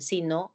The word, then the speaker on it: si no: Pero la conjunción condicional, el sí más el adverbio de negación no, es tónica.